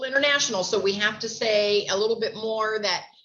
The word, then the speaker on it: Sai: not sure how to say, the name is S-A-I. Do we pronounce that? Say? I'm not sure how to pronounce that. Can you help me out? Yeah, Kathy, you're right. That's Sai.